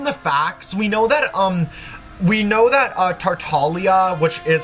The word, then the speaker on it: Tartaglia: From the sounds of it, well, from the facts, we know that Tartaglia, which is how you pronounce his name, La Senora, rest in peace,